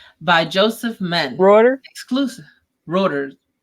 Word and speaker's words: Reuters: Reuters. Like a rotor cuff.